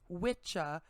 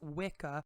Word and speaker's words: wicca: or whis feminine pronounced witcha and witcha respectively denoting someone who practices sorcery and from kraft meaning craft or skill this term is often mispronounced as wicca when discussing the modern